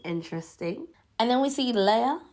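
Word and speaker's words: Lea: And then we see Leia, that's how you say her name, revealing that she didn't actually get a date, which I didn't clock onto.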